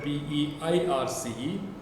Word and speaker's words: Peirce: his last name is Peirce, it is written P-E-I-R-C-E, but then it is pronounced Peirce.